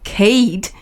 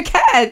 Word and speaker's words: Kate: normally if there's an E at the end of something, you'll pronounce it with the long A. So Facebook has the E after the C. Yes. So you'll say Facebook, or Kate has the E at the end of the T.